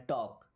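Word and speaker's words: talk: अब देखिए इस वर्ड में एल होता है साइलेंट। टॉर्क नहीं पढ़ना है। टॉक टॉक मी्स होता है बात करो।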